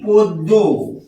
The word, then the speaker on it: পদ্ম: এটাকে জন্য বলছি আর এটাকে পদ্ম লিখলাম পদ্ম লিখেছি লিখেছি পদ্ম আর আমরা বলছি কি পদ্য এটা বলছি লিখলাম পদ্ম আর বলছি পদ্য প্রথমে ব্যঞ্জন বর্ণের সাথে